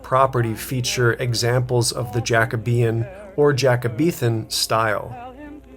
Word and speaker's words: Jacobean: But with a little bit more digging, we found out that the furniture is Jacabian. That is the correct pronunciation.